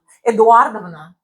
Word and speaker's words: Эдуардовна: Eduardovna. How do you spell that?